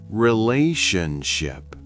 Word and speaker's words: relationship: Relationship. The shun sounds like ship. Relationship.